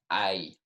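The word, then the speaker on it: hay: Ay. Also, the H there is silent. You see the H at the beginning of a word in Spanish, it is silent.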